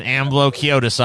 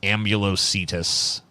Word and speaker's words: Ambulocetus: It's an Ambulociotis, all right. That's what's going on here. Yeah, I see it now. That's actually a pretty terrifying animal to know. I think it might actually be pronounced Ambulocetus.